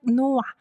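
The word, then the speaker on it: 놓아: this one also uh consonant assimilation rule applies and he becomes silent he but become silent and NOA is pronounced like Noah this this uh characters these characters are pronounced no not no there's no h sound right just no you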